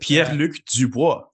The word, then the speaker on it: Pierre-Luc Dubois: You have Pierre-Luc Dubois, for example. I know you would have pronounced that a little cleaner than I did, but Pierre-Luc Dubois.